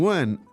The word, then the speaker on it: 问: So, anyway, so remember, 问 is the fourth tone. It's pretty strong.